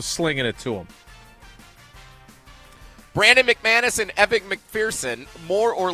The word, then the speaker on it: McManus: Brandon McManus and Evan McPherson, more or less than 3.5 combined made field goals.